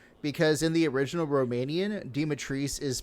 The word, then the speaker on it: Dimitrescu: Because in the original Romanian, Dimitrescu is pronounced Dimitrescu, right? And the Japanese. No, it's pronounced. So. It's pronounced Dimitrescu, right?